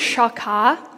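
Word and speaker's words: שחה: So it's pronounced shakah, and it means to bow down.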